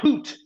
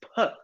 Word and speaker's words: put: a short use out but it's not poot put your homework on the table no it's put put short so if